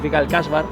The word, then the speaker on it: القصبة: Okay, Alcazaba comes from an Arabic word, القصبة, pronounced al-qaṣabah or al-casba.